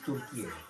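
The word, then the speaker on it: Türkiye: Stop pronouncing it as Turkey. It's Turkey. Turkey is very, very pretty in a kind of gothic kind of way.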